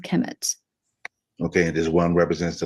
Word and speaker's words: Kemet: km Mt um actually um spelled just uh pronounced as Kemet but it's actually written kmmt and um the